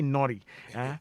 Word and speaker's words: Nortey: Thank you, Nortey. Right. I like the way you pronounce it. You say naughty. It's naughty.